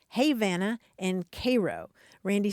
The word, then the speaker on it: Havana: Havana Florida and Cairo Georgia but they're actually pronounced Havana and Koo Randy says when I first moved